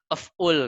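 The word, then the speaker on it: أفعل: Af'ul gitu kan. Kita bacanya af'ul. Ya, karena diawali sukun. Karena ya-nya kan dibuang, fa-nya sukun, lamnya kita sukun. Jadi af'ul.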